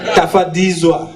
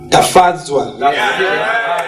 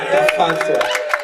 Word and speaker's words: Tafadzwa: Tafadzizwa. Have I got it right, brother? Nearly. Tafadzizwa. Tafadzwa. Tafadzwa.